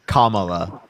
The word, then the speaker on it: Kamala: How do you pronounce it again? Kamala.